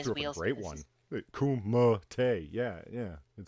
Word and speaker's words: Kumite: Kumite. Yeah. It's Mate. Don't argue. Yeah, if you read it how I wrote it, you can't mispronounce it. So KOOMUHTAY. You can't mispronounce it that way.